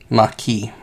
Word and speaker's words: Maquis: Maquis. And that is the proper way to pronounce that one. Thanks to Star Trek.